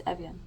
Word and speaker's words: Evjen: It's Evjen.